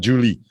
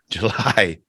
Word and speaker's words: July: month July in July yeah not Julie July what year what what year is it um 2022.